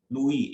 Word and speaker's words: Louis: लुई Philippe French name, लुई LOUIS, S silent है French में। Philip, इधर किसी का नाम नहीं होता लुई, है भी तो लुइस बोलेंगे।